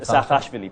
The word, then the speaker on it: Saakashvili: forward-looking chief executive officer how do you pronounce his name Saakashvili President Mikhail Saakashvili Saakashvili yes yeah and